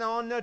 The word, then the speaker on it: honor: It's an honor to meet you. An honor. It starts with H but pronunciation O.